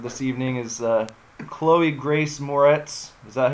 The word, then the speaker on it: Moretz: final trend for this evening is Chloe grace Moretz is that how you say it yeah or